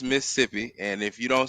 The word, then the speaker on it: Mississippi: See, when you from there, you say Mississippi. We take one of them syllables away. That's how we know that y'all don't be from there. Y'all be saying Mississippi and Mississippi and all that shit.